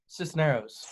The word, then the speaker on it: Cisneros: from thirst which how do you say your last name Sisneros this scenario snows yep is that what is that it's a Hispanic it's Hispanic all right so I'm